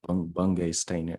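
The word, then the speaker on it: Bungay Stanier: Bungay Steiner.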